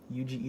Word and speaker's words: Yuji: him that's one of the main gimmicks of yuchi itatori itadori which is the main guy's name yuji itadori i'm i always pronounce them so right in my head why